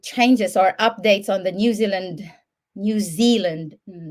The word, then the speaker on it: Zealand: New Zealand New Zealand previously I was just saying New Zealand which is actually wrong New Zealand because of the EA which is a long which is having a long e sound I'm correcting myself right